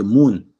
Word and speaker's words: moun: You say moon, but you spell it with MOUN.